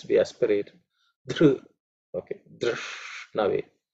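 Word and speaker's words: धृष्णवे: Dr, okay, Drishnave. Drish is cerebral, sh, so the tongue pointing upwards, sh.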